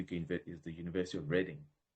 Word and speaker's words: Reading: is the University of Reading. I know you say reading, but it's spelled reading but pronounced Reading.